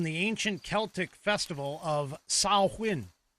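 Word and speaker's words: Samhain: came originally from the ancient Celtic festival of Sawwin. It's spelled Sam Hayne, but everybody pronounces it incorrectly. It's s i n sawin.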